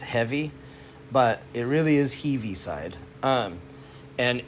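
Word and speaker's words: Heaviside: heavy side function and it looks like it's pronounced heavy but it really is heavy side um and it's named after oliver heavyside and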